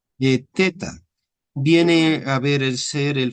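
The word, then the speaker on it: θ: Eh, viene, ¿cómo te pronuncian? Eh, teta viene a ver ser el famoso sonido dentilavial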